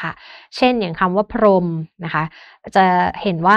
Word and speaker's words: พรหม: เช่น อย่าง คำ ว่า พรหม นะ คะ จะ เห็น ว่า มี เสียง หอ หีบ แต่ ว่า เรา ไม่ ออก เสียง นะ คะ หรือ ยัง